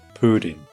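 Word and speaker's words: プリン: Jigglypuff in Japanese is purin, pronounced pudding.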